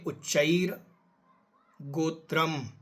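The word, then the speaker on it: उच्चैर्गोत्रम्: गो शब्द के ऊपर रा की रेफ है, वो चा के साथ पढ़ी जाएगी, तो पढ़ेंगे उच्चैर गोत्रम।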